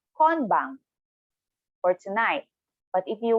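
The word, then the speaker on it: 今晩: So should we stick to konbang? All right, like stick to that, yeah? So tonight, konbang. Again, slowly, per syllable, konbang.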